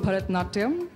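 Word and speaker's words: Bharatanatyam: dance you know this was coming help me pronounce it and show us a few steps uh well it's called bharatnatyam i can't do it in this gown because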